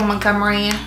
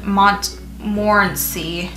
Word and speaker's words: Montmorency: have storage orchards all-natural Montgomery Montgomery what I say Montgomery is there Montgomery cherries or I've itís probably pronouncing Mont morency cherries wrong my entire life and I actually always been Montmorency and I've been saying